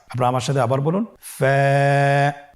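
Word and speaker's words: ف: ফা হরফটি উচ্চারণের ক্ষেত্রে বারিক হবে এবং এক আলিফ টেনে পড়তে হবে। আপনারা আমার সাথে আবার বলুন। ফা, স্ক্রিনে দেখতে পাচ্ছেন ফায়ের মাখরাজ। ফায়ের মাখরাজ হলো নিচের ঠোঁটের প্যাড সামনের উপরের দুই দাঁতের আগার সঙ্গে লাগিয়ে উচ্চারিত হয়।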